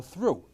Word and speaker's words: through: a sudden it's trough put an h between the t and the r the same word is now through and put an o